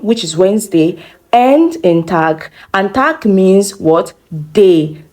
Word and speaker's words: Tag: So it's not Tag, but Tag, Tag, Tag.